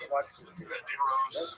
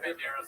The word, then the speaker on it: Banderas: Let's drop a syllable. Banderos. Yeah, Banderas is good.